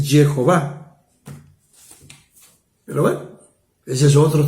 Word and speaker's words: Jehová: yo Jehová bueno es está demostrado que una pronunciación correcta es Jehová Pero bueno ese es